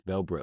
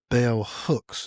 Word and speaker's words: bell hooks: Bellbrooks. Bell Brooks. Sorry, Bell Hooks. If I Oh, mispronounce okay.